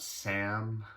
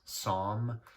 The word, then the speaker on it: Saam: has s double-a m first thing I wanted to go over is how to pronounce it does not not Sam trying to give anything else does was it big one don't get it wrong it's song a lot of people